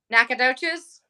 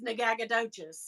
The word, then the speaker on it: Nacogdoches: Nacogdoches? No, I like to say it as Nagagadotchis because that's how it's spelled.